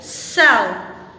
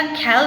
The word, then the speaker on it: cell: Let's have some examples like सेल। यहाँ हमारे पास सी के बाद क्या है? वी हैव ई आफ्टर सी। तो हमने इसको कैसे प्रोनाउंस किया? खेल प्रोनाउंस नहीं किया, we have pronounced it सेल।